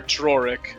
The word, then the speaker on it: Drorik: Or Drorik, if you want to say it properly. Oh, Droik. Droik. You have to roll the R's.